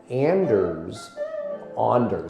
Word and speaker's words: Anders: And Anders, by the way, that's how you say it.